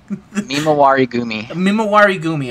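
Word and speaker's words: Mimawarigumi: And I will now say that the I'm not going to be able to pronounce it. Say it again, so I know how to say it. Mimawari Gumi.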